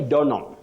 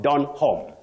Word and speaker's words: Donholm: in Nairobi you say donam donam blessings you say donam not Don home that H is not articulated or pronounced then you say crayon